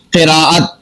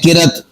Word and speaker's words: قراءت: کئی سارے الفاظ ہیں۔ اسی طرح لفظ ہے قراءت، ہم بول دیتے ہیں قرت، تو یہ غلط ہے۔ اسی طور پر لفظ